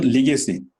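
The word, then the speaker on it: legacy: ওকে, যেমন লিগেসি, লিগেসি শব্দটা হচ্ছে লেগেসি।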